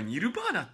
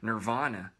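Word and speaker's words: Nirvana: ニルバーナていうかニルバーナっていう発音も違うからねなんかナバナナバーナって感じの方が近いんだけどさでも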